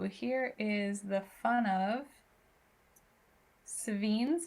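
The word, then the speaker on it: Sevinne's: Ooh, here is the fun of Savines is how I pronounce that.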